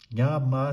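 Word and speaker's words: ཉམས: Nya is not one of the prefix. Ga, da, ba, ma. You have to pronounce this. Ma is the suffix. So sa is post suffix which remain silent. Nya, ma, sa, nyam.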